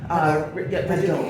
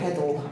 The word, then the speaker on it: heddle: Heddle, H-E-T-T-L-E? D's instead of T. Heddle. Heddle. I grew up in Vermont, so I don't pronounce the T's.